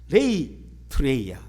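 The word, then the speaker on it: λειτουργία: 레이투레이아. 그것도 이제 헬라어인데, 이 레이투레이아라는 단어는 뭐냐면은 이 라트레이아하고 비슷한 것 같지만 뭐가 다르냐 하면은, 레이투레이아는 공식 예배를 이야기합니다.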